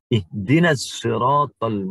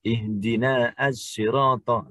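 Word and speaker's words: اهدنا الصراط: Tidak boleh kita baca ihdina as-sirata. Langsung ihdinas sirata. Alif lam tidak terbaca, tetapi harus dalam pengucapannya, ya, tidak terbaca, tetapi dalam penulisannya harus ada.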